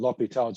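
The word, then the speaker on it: L'Hôpital: it like hospital okay i prefer the french pronunciation l'hopital's it's a little bit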